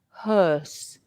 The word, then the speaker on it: hearse: similar no no um look at my my lips Maria horse can you see that for the O are horse my my lips are round horse and HSE my lips are more Square can you see that hearse and for horse my lips are pointed horse and they're rounded but hearse they are a bit more Square now the Earth sound